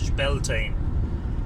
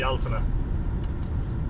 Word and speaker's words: Bealtaine: that may be because you've heard the English pronunciation - beltane for a lot of people who call it del tain but in this part of the world it's pronounced the alterna what is the alternate what Deltona is ancient